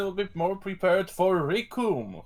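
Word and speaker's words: Recoome: And Krillin will be more prepared for Rikum, whose name rhymes with Doom.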